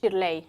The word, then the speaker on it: Shirley: Bueno, pues dice Shirley o cómo cómo lo pronuncias tu nombre. Shirley. Shirley. Yo me creí que era más americana Shirley, pero es Shirley.